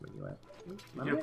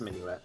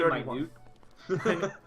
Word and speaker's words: Minuet: I believe it's pronounced Minuet. You're probably right. Yeah, it's Minuet. I always want to say minute.